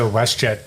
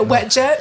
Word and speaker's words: WestJet: Well, when he was at the WestJet section, he was ready to fire the shirts or whatever. Yeah. And he mispronounced WestJet. Yeah, wet jet.